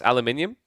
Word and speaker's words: aluminium: How do you pronounce aluminium?